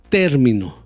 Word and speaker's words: término: la la siguiente palabra término ahí puse el golpe de voz en la primera sílaba término termino ahí puse el